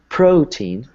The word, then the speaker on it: protein: So, for example, protein has two syllables, pro and teen. So you can either say you can either stress the first syllable or the second syllable. So you could say protein, or you could say protein.